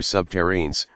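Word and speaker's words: subterrene: The beautiful thing about nuclear subterranes, rhymes with submarine, is that they don't leave any debris to dispose of.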